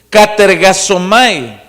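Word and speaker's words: katergazomai: a hacer lo posible, con K de kilo al principio y con Z, lo que se pronuncia, es katergasomai, que significa trabajar completamente, dedicarse a entender lo que es salvo.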